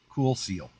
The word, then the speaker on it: KoolSeal: It's spelt cool with a K, KoolSeal, Cool Seal.